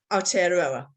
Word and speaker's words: Aotearoa: Now, I hang on, I worked hard on pronouncing this. I researched this, let me get this right. Aotearoa, is that right?